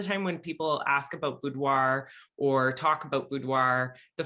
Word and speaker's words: boudoir: i hadn't heard before you called it something boudoir yeah what does it mean and how do you pronounce it and how do you spell it